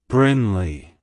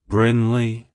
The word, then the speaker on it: Brinley: history it's pronounced as Brinley Brinley Brinley to pronounce it correctly emphasize the first syllable Brin and the second syllable Lee like hello Brinley goodbye